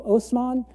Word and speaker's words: Osman: by the name of Osman this is the Turkish pronunciation of an Arabic name mman where there's this